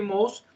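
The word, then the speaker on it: Mauss: Na época, eu nem sabia que o nome dele era Mous, que se pronunciava assim, depois que eu fui pesquisar que era francês, e aí eu vi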